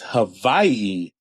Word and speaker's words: Hawaii: I am, and also one thing I learned, cool fact, the W is pronounced like a V out here. So when people say Hawaii, it's Hawaii.